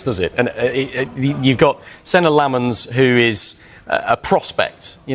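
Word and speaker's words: Senne Lammens: of the window, but United opted to sign Senna Lomans instead.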